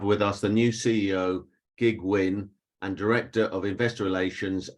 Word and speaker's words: Kiet Huynh: presenting to you today um my name is gig win i'm the ceo of uh rotor so just to introduce myself um my name is gig win you'll see the name spell as k-i-e-t but